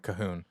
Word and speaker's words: Calhoun: Cahoon. It's just a different kind of. Wow. So are you saying Pronunciation.